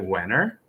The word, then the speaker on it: Wehner: don't think i have ever properly got the pronunciation of your last name is it winner you know what you got it exactly right